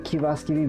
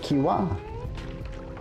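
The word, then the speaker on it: kiuas: u oh is it Kiwa uh I mean if you pronounce it quickly yes it would be Kiwa but it is a hard oo sound so it's K AI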